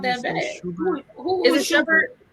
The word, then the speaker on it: Shumpert: Who is it Schubert?